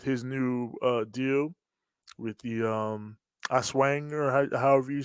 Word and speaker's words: Aswang: his match with his new deal with the Aswang or however you say it. Uh, Azwa. Aswang.